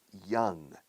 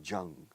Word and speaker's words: young: send him the best young, fíjate en la pronunciación de joven, young, yellow yedre young. No digas por favor Jung.